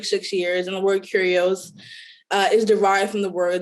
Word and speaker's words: Curios: so curios is spelled c-u-r-i-o-s so you hear curios you think of curious and so you want